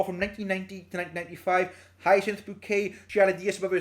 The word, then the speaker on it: Bucket: She insisted that to any Tom, Dick or Harry that it was pronounced Bouquet, as we know.